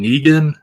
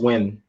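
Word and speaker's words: Nguyen: Yeah, I think it's pronounced Win. Win.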